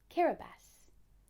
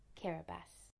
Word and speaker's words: Kiribati: of islands cord thing that's pronounced karabus let's say it together one more time karabast karabast has a population of over